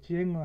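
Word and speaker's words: Sänger: 민네장을 만들고 부르는 사람은 민네 쟁어, 독일어로 쟁어 하면은 가수죠. 동사가 징엔, 명사가 장, 사람이면 음라우트 붙었기 때문에 에 발음해야 되니까 쟁어입니다.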